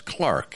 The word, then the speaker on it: clerk: clerk oh of course or the stock brokers clark if you are uh pronouncing this in the british dialect which our friend eric